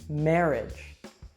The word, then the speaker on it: marriage: Now, this one is tricky because it is not pronounced like the word age. So listen carefully and make sure that you don't mispronounce this one. Mortgage, sabotage, marriage.